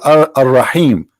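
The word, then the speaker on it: الرحيم: They say Ar-Rahim because this is how it's pronounced, but the fact it is Al-Rahim, Al-Rahman, Al-Aziz, Al-Muhaymin, etc.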